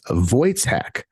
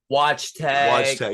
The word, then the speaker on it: Wojtek: members of the band from Miami known as vojtek spelled w-o-j-e-k hey there guys how's it going